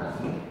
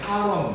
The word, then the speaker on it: halon: 이렇게 잘 나오는데 HALON 할론. 원래 이제 L 발음이니까 할론 이렇게 해야 되는데 그냥 일본식 발음으로 같이 먹게 하론 이렇게 나올 수도 있어요.